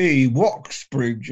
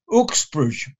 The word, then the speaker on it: Woxbridge: the name w-o-x b-r-i-w-g-e woxbridge appears in a charter and variations of that spelling follow a word about pronunciation the letter w is a double u so the place name was probably pronounced ooksbrush the initial w survived